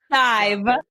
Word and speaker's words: Hive: And I want to say it wrong, but it's Hive. Like beehive. Yep. For some reason, I want to put an R in her name that doesn't exist.